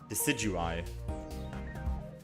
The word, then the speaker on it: Decidueye: In the anime, they pronounce it Decidueye.